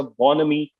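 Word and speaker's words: bonhomie: में तो उस वक्त भी देयर वास अ बोनमी बोनमी बोनमी के स्पेलिंग होते हैं बी ओ एन एच ओ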